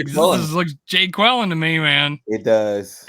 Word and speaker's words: Jaquelin: Some of people are calling him Jacqueline, but I'm like, this looks Jay Quellen to me, man. It does. It's pronounced Jaquellen. It's not Jacqueline.